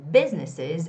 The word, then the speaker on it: businesses: struggle to keep their businesses open. Now make sure you make that S sound. Keep that S sound behind the word business. It's businesses open.